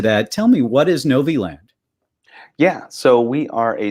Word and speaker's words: Novi Land: engineer and the director of business development at Novi Land I get that right you did yeah I hear a lot of pronunciations of it but that was right good